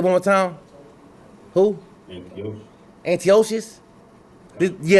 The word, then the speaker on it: Antiochus: pronounce name for me I don't want to mispronounce his name cuz he say it one more time who antio Antiochus yeah Antiochus right so he just ran Egypt this King